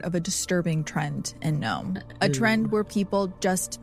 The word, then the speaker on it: Nome: Gnome is actually closer to Russia than to Anchorage, Alaska's largest city. And it's not for nothing that Gnome's very name forms the first syllables of no man's land.